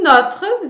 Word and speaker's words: notre: N'oublions pas notre passeport. Como que fica? Tu vas supprimer le R. Oui, le R et le E. Donc, quand je parle vite, quando eu estiver falando rápido, o notre vira notre.